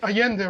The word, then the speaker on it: Allende: I forget that you don't pronounce the L's the way I just did in oh Spanish. Allende, right?